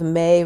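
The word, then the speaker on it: μή: to be no so you can think of may rhyming with nay so if somebody starts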